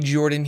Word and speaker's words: Jorphdan: Hello everybody Jorphdan here the PH is silent.